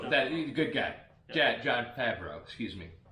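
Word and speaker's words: Favreau: good guy dad john fabro excuse me i always want to add an extra syllable in there um with his with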